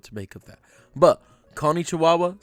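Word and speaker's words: こんにちは: Watch out for the wa on the end, which is always pronounced wa. I'm not sure what to make of that. But konnichiwa, saying konnichiwa, good afternoon, we can work with that.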